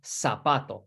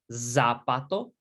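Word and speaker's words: zapato: giogur um and last one here el sapato this other is so notice zeds in spanish are not it's not zappato no el sapato and in spain they're going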